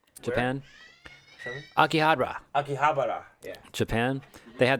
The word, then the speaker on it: Akihabara: aqua harbor yeah how do you say that akihabara japan akihabara akihabara yeah japan they had that sega arcade